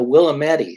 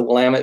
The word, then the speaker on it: Willamette: pronounced it right right my mother calls it the willow Mattie so you know here for 30 years I think she's actually got it down but yes it's the Willamette yeah I have three